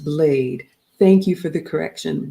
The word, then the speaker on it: Blyde: Blyde is pronounced Blade.